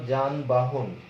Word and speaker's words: যানবাহন: যেমন তুমি যদি বলো যানবাহন, এই যে যানবাহন, তাহলে এই যানবাহন শব্দটা উচ্চারণ করতে গেলে তোমার কিন্তু উচ্চারণে বর্গীয় জ দিয়ে করতে হবে, যান বা হন এরকম উচ্চারণ করতে হবে। তাহলে দেখা যাচ্ছে আমরা কিন্তু